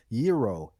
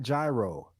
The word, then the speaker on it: gyro: ago I pronounced that I figured out that is called um yo and not gyro oh yeah y n